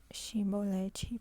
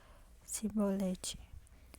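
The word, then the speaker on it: Chibolete: então ele dízimo dias depois chevrolete porém ele dizia cebolete porque não podia pronunciar bem então pegava um dele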